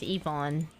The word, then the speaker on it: Yvonne: It's pronounced Yvonne. As if it's like an E at the front.